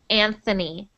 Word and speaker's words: Anthony: it's because I think in Spanish we only say ant Anthony and actually in Italian too we say Anthony we don't say Anthony but in English we pronounce that Anthony Anthony good so fanfo